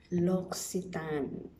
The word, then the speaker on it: L'Occitane: Bago ko sinerch ko muna kung ano yung pronunciation niya. Pangalan na ito. Yung itong pangalan na ito ba? Lox-ee-tahn.